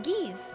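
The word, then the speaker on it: geas: Next, we have, I think it's pronounced Geese, which is like dominate person, but times 10.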